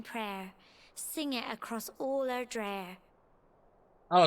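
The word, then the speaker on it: Erdrea: Sing it across all Erdreer. Oh, it's pronounced Erdreer. I thought it was Erdria.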